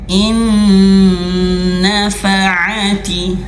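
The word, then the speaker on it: إِن نَّفَعَتِ: Nunnya langsung masuk ke huruf nun. Idgham masukkan ke huruf nun yang kedua lalu digunahkan atau disengaukan. in in nafaati nafaati in nafaati seperti itu.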